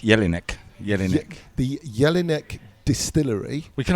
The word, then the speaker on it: Jelinek: Have I pronounced it right? Correct. Jelinek.